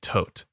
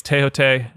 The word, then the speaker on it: Thoth: from what I've read if you go to Egypt and tour a pyramid most of the tour guides will say tote or tho there and I'm going